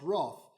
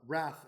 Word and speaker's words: wrath: In short, we need saving from God's wrath, or wrath as our American friends pronounce it.